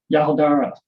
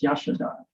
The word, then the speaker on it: Yashodhara: Okay, so Yahodara. Actually, I think it's Yashodhara. But anyways, spell that.